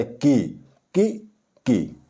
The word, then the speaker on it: की: ई की मात्रा लगी है इसलिए इसका जो उच्चारण है इससे थोड़ा ब होता की की की अब हम इनके प्रयोग की बात करते हैं